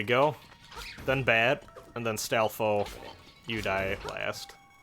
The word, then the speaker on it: Stalfos: I always thought the S at the end of Stalfo, or Stalfos, was silent when I was younger, but I think a lot of people actually pronounce it Stalfos. I think I'm in the minority there.